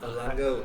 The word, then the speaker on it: Lange: Actually, what do you pronounce it? Lange or? Lange Zona.